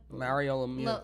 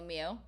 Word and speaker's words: Lemieux: Lemieux. Lemieux. What sport do you think he played? He's definitely French, because an X at the end of any name and then pronounced Lemieux.